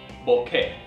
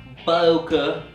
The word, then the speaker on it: bokeh: kind of like okay except with an e on the end and a b up front so Boke say it with me Boke not Boke or bokei or it's B now you'll hear